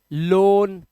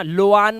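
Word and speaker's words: loan: लोआन मत बोल देना, लोआन, रोआड, गोआट, बोआट, कोआट, ऐसा नहीं करना है, ओ ही पढ़ो, ठीक है, क्योंकि ओ ए का उच्चारण जो है ना वो ओ ही होगा।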